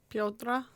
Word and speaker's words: Piotr: How do you say it? Piotr. Piotr. Pio and then Tra.